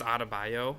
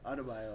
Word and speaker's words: Adebayo: And then, how do you pronounce his last name? He's from Miami. Bam. Mm-hmm. Bam, I think it's Adebayo. Yeah, Adebayo, I think.